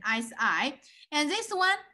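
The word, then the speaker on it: 四: Pronunciation, si. And this one, si, means death. You see death, but their pronunciation, the tone is different. One is si, one is si. But in general, si sounds similar.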